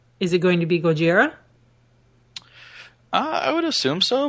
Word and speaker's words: Gojira: was brought to America the first movie is Gojira in Japanese or in Japan and in America